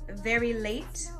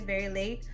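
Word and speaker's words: VERELAT: And it was an acronym called Very Late. That's how I say it in my head, Very Late. But it's spelled out as V-E-R-E-L-A-T.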